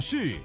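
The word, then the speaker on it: 四: O número quatro é pronunciado como shi, que significa morte.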